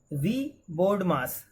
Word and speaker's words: VBODMAS: Okay, now next, now students, let us see the next point is VBODMAS, V BODMAS. This is pronounced as V BODMAS, and you know about